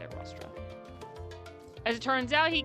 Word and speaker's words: Rostra: That's how you say it, Rostra.